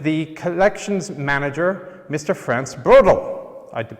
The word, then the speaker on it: Brodl: Franz Brodl. I did pronounce that right, didn't I?